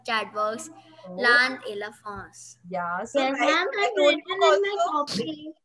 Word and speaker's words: La France: La France. La France. Very good. France. France. Yeah, La France. Okay. La France. La France. And the N is silent. No, not silent, but the nasal.